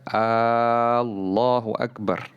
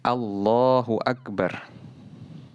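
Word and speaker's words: الله أكبر: harus dengan Allahu Akbar pengucapan fathah yang sempurna di awal jadi tidak dibaca Oh tapi Al Allahu Allahu Akbar tidak boleh memanjangkan huruf alif di awal tidak dibaca Allahu Akbar tapi Allahu Akbar karena kalau seandainya dibaca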